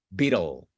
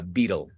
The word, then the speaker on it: beetle: Siempre imagínese una vocal antes de la L, una pequeña schwa. Entonces ahí suena bita, bita, beetle, beetle. Así se pronuncia la palabra beetle.